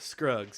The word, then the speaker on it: Scruggs: Scruggs.